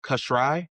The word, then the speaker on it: Kosrae: Um so your father's from I want to make sure I pronounce it right. It's Kashri.